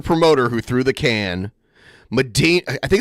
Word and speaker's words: Medina: I'm from Ohio, and I believe it's pronounced Medina, not Medina.